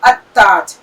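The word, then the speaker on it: التاج: ताज में, और इसे कैसे लिखा जाता है? अल-ताज. इसे किस प्रकार पढ़ा जा रहा है? अत-ताज.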